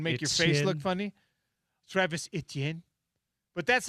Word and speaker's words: Etienne: Yeah, it's not like it's almost 2 syllables instead of 3. Etienne. And you probably gotta you have to make a hand motion and make your face look funny. Travis Etienne.